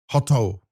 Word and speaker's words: HOTU: the most disappointing one is obviously losing to Hotu or Hotu, or how do you ever you want to Yeah, so you're pronounce supposed that? to say hoto, like that, Hoto, basically.